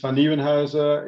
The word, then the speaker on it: Vannieuwenhuyse: It's nearly impossible for non-Dutch speakers. The right pronunciation is Vannieuwenhuyse.